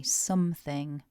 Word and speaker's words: something: are first of all vowel in syllable one is an uh not an O so we say something with the uh something